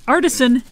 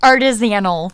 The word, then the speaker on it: artisan: The co-op offers fresh ingredients and local artisan gifts. That is how you say that word. Yeah, not artisanal.